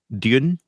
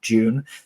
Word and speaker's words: Dune: versus British but yeah Dune apparently is not told how you say it not June but yeah both are